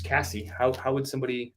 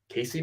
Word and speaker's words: Cassie: How do they say it? I'm reading your name on the order. It's Cassie. How do you say it wrong? Casey, maybe? I guess somebody could say it that way.